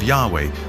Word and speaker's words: Yahweh: So his title in a sense was God and his name was these four letters which in English would be Yhwh which we think were probably pronounced something like Yahweh.